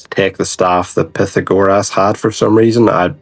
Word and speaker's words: Pythagoras: Never mind, turns out it's this Pythagoras, or as the Greeks pronounce it, Pythagoras.